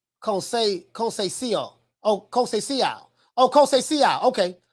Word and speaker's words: Conceição: Mo City say pronounced like Conceição.